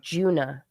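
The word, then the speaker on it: Djuna: It's like D-J-U-N-A, Juna. I think it's pronounced Juna.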